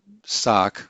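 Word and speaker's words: שק: this is a case where sock sounds like sack or sackcloth so he clothed and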